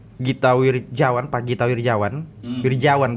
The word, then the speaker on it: Wirjawan: Wirjawan, begitu pronunciation-nya.